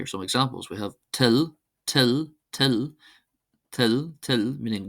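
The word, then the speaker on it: toil: We have till, till, till, till, till, meaning will or wish.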